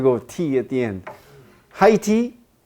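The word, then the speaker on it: Haiti: produce at home are more expensive you know Heidi I'm sure that's how you pronounce the name of the country high tea oh okay so I have to go tea at the end high tea it's one of the first countries and you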